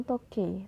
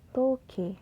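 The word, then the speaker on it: 時計: e bertemu dan I seperti kata toke dibaca bukan toke tapi toke huruf e-nya dibaca panjang to Nah ada lagi nih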